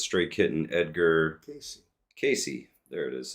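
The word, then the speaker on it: Cayce: no no Jim Ketchum says stay kitten Edgar Casey Casey there it is says China is eventually going to be the major force of Christianity in the world interesting edri Casey was a clairvoyant sometimes he would is compared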